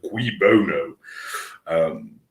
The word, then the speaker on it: cui bono: As the closest you've got in English, even though, as I said, you pronounce it cui bono, is like follow the money.